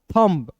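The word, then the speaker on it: thumb: एम का आधा म बी का ब थंब यू को साइलेंट करना है।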